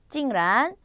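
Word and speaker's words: 竟然: 발음은 찡란, 쥐란, 부랴.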